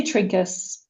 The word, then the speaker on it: Trinkaus: today to welcome Trinkals. And you want to say your last name once for me so I don't say it wrong. Yeah, I say Trinkus.